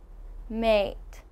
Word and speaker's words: mate: now you can see for a we have mate now this is a much longer sound and your mouth is opening much wider mate mate a a